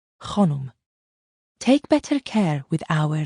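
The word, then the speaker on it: Khanum: "It is pronounced Khonum.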